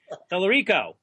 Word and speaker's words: Tellerico: I pronounced that wrong after all the years I've known you. You can slap me. Tellerico. Yes, it is.